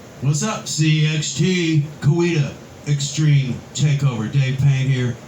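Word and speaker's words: Coweta: what's up cxt kuwita extreme takeover dave payne here with dustin little filming this from kuwita oklahoma now every time i do a youtube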